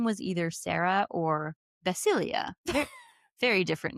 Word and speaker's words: Basilia: She's like, it's Basilia. What's her name again? Say it for real. Basilia? Basilia. Basilia. It's literally spelled like basil, like yeah, basil.